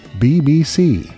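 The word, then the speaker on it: Beebeesea: From Italy comes B-E-E-B-E-E-S-E-A, pronounced, you guessed it, BBC, with this catchy tune from 2020's Day Ripper called Mere Sag, here on Bend and Scoop.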